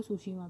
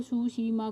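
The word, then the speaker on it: Tsushima: तो गाइस यहीं कहीं मिल जाएगा आपको सुसीमा भी। तो सुसीमा कहाँ मिलेगा गाइस आपको, ये देखिए लिखा हुआ है, टी से स्टार्ट है स्पेलिंग, लेकिन ये एस देखिए सुसीमा लिखा है, राइट।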